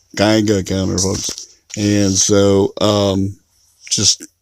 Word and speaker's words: Geiger: was saying this is saying Giga counter I was saying did you counter that I always say kids you can't for some reason and it was when I was a young kid I always pronounced it wrong and so I have a bad habit of popping up the wrong word so a Geiger counter is what you I'm supposed to be saying so it's like